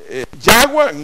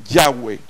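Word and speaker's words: Yahweh: pero está ahí entonces si decimos chahuán no suena nada pensemos y joey tampoco menos entonces la forma más idiomáticamente y semánticamente correcta es yagüe ya ver si eso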